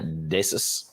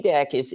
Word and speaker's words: Dacus: Decis. No, it's Dacus. Decus. It's Lucy Dacus. Trust me. I've seen her live. All right. Before all you guys get mad. Lucy Dacus is an incredible songwriter.